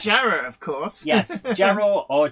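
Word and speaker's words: Jarrow: zo is it Jara or Jara well it's Jara of course yes jarro or Jara well we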